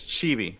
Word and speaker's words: chibi: that's what you saw is it c-h-i-v-i that's chibi that's chibi though okay okay got it thank you see chibi is like the little versions of people yeah